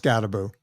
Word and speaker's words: Skattebo: His name is spelled, I think, Skatebo. Not that I'm in love with the man or anything. Skatebo? Yeah, it's pronounced Scatterboo. It might be two T's, Skattebo. Could be Boo. I'm not sure. Cam I mean, Scatterboo. it doesn't phonetically look like that, but that's okay.